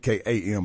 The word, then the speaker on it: Beckham: So I usually go Beckam, but there's that H that's kind of silent in there.